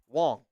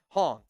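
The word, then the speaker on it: Hoang: And I would always say Wong because I thought it was an Asian name. I thought I was doing good. He's like, "Bro, you always say my name wrong." Hong, I I try to remember.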